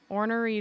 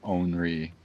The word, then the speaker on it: ornery: It's not ornery. It's like onry. It's like you're skipping a lot of letters there.